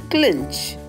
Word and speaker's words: clinch: You have to pronounce this word as clinch. K sound. Clinch.